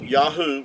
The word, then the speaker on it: Yahuah: Uh Yahoo would give you the sound. Um these three letters here the ye the yod yad and the he and the ua would give you yahoo and uh even Benjamin